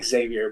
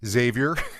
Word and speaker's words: Xavier: Well for me that the X is actually not pronounced. So, it's funny because everybody always uh they they have they say Xavier, but it's really silent. So, the X is really silent.